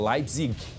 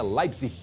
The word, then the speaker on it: Leipzig: O brasileiro fala Leipzig, mas a pronúncia é Leipzig.